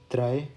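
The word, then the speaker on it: drei: तो इसको मैं ना इंग्लिश में भी लिख देता हूँ यहाँ पे, ताकि आपको थोड़ा सा एक प्रोनाउंसिएशन का आइडिया हो जाए। नुल, आइंस, स्वाय, त्राय।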